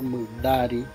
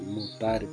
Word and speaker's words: Mutari: Hay un pueblo de Ñucribo que se conoce por Mudari, pero como se escribe Mutari, muchos lo pronuncian como tal, Mutari, pero se escribe y se pronuncia Mudari.